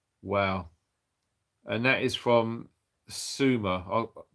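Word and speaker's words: Seumer: and that is from sumer i'm butchered your name is s-e-u-m-e-r swemmer um so yeah thanks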